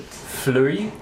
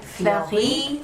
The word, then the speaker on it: Fleurie: The one that we are having is, and I'll let you pronounce it, Fleurie. Fleurie.